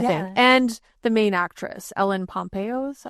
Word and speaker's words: Ellen Pompeo: And the main actress, Ellen Pompeo, is that how you say it?